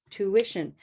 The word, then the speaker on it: tuition: things going on tuition tuition has a little invisible w right here that is not written but we need to say it anyway so to wha tuition tuition if that's tricky